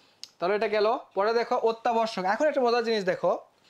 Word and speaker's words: অত্যাবশ্যক: একটু আগে পড়ে আসছিলাম যে অর পরে যদি একটা কি থাকে জ ফলা থাকে তাহলে ওটা কি হবে ওটা কি হয়ে যাবে ওটা ওর মত হয়ে যাবে তাহলে অত্যাবর্ষকে কি হয়ে